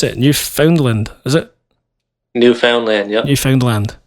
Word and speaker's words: Newfoundland: Is that how you pronounce it? New Foundland.